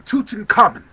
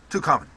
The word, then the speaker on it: Tutankhamun: on to King Tut King Tutankhamun I like to call him too common keep it simple but that's not really how you say it now go on